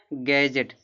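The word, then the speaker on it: gadget: माने ज्ञान होता है गैजेट डी के बाद जी है ना तो डी का उच्चारण नहीं होगा गैजेट पढ़ा जाएगा गैजेट माने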